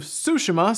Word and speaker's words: Tsushima: of Tsushima and it turns out it is pronounced ghosts of Tsushima so I I guess I'm going with that